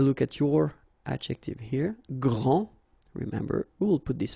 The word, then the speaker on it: grand: here for the masculine gran so you don't pronounce the final d will be exactly the